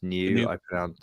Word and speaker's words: GNU: I think I did a shout out on Twitter to New Andrew, or GNU Andrew, depending on how you pronounce new. I pronounce it new personally.